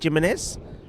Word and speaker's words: Jimenez: We were saying Jimenez, well, because they're a very Portuguese-looking name, Jimenez, but we were told he does pronounce the J, Jimenez.